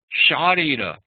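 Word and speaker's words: śārīra: So from sharira, sharira meaning the body, we sometimes can use sharira with a long a instead of a, and refer to physical or something that is related to the body.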